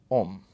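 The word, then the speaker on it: homme: here is the word om right note the spelling it has an h which is silent now in french the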